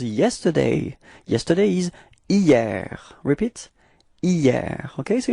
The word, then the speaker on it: hier: Repeat, hier. Okay, so it's quite funny because actually it does start with a H, but then in French we don't pronounce H, so we've got the sound hier, hier.